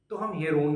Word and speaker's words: Heron: तो ये हेरोन का फार्मूला है जिसको बाद में हम पढ़ेंगे।